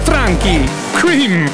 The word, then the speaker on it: Franchi: track and technoboy just told me how to pronounce it here we go federo franki in the Techno boy and tomb booy remix